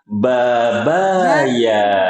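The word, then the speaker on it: بابايا: Babaya gampang diingatnya. Iya kan? Pepaya babaya. Pepaya, babaya. Gampang diingatnya ya.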